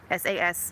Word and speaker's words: Saskatraz: It's literally spelled phonetically, S-A-S-K-A-T-R-A-Z, Saskatraz. And they are just great.